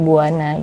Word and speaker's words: Bhuwana: bumi buwana Iya sebenarnya E yang benar kan penulisan sanskritnya kan pakai v ya buvana kan cuman kalau di IG sampai akhirnya tuh orang bingung untuk menyebutnya gitu kan jadi kayak ini bacanya gimana gitu kan jadi kita kasih v-nya itu jadi W aja supaya kebacaannya jadi Buana gitu berarti aku ngomongnya bumi